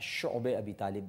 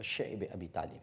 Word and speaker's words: شعب ابی طالب: بعد شیب ابی طالب، جس کو بعض حضرات شعب ابی طالب بھی کہتے ہیں، لیکن جو اس کا صحیح تلفظ ہے وہ شعب ابی طالب ہے، ایک گھاٹی تھی، آج